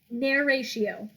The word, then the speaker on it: narratio: Step 2, narratio. Just spell it like narration, but without the N at the end.